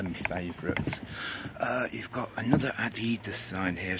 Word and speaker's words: Adidas: Yeah, you've got Adidas there, or Adidas if you say it properly.